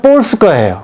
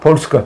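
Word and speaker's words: Polska: 폴란드는 가만 보니까 폴스카예요. 폴스카. 북한에서는 폴스카라. 예, 폴스카입니다. 정확히 폴스카입니다. 그게 저 폴란드로 가면 북한 사람. 예, 이게 영어식 발음이더라고요. 폴스카에 가면 거기도 폴스카라고 합니다.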